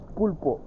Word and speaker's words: pulpo: Pulpo.